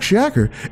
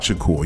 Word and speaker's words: Shakur: pronounce that okay okay i know tupac tupac shacker it's always they always all purpose to me i feel purposely mispronouncing his name at the time where he had movies he had albums out there tupac shaq stop it you know how to pronounce his name it's tupac shakur you know come on